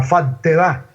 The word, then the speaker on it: faltedad: Faltedad, dicen en Cartagena, pero con doble T, porque no pronuncian la L, la faltedad.